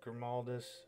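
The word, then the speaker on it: Grimaldus: as you can see over here we've got grimaldis that's how you say his name along with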